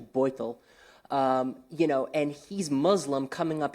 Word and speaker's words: Beutel: Spanish first name, German last name, pronounced actually Beutel.